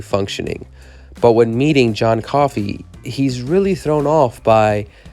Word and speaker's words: Coffey: character is named john coffey and one of the famous lines in it which always kind of made me smile just for how delivered is pronounced like the drink would spell differently and it just kind